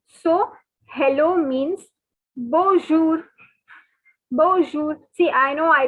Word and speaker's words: bonjour: and note the following the n is silent okay guys so n is silent n has a nasal sound so it is not to be pronounced so hello means bonjour bonjour see i know